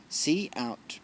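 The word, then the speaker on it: cout: to the stream see out see out pronounced see out is the name of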